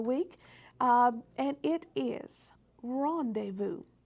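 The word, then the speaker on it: rendezvous: um and it is Rondevu Rondevu yes Rondevu is spelled re n d e z v o u s and that Z is silent and this is a French word and I'll use the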